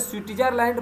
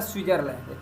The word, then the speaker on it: स्विट्जरलैंड: तो दोस्तों ये स्विट्जरलैंड, इसको लिखा जाता है स्विट्जरलैंड, इंग्लिश में इसको बोलते हैं स्विट्जरलैंड, पर जब हिंदी में बोलेंगे तो ये टी साइलेंट हो जाता है इसको, तो इसको बोला जाता है स्विट्जरलैंड, ठीक है दोस्तों।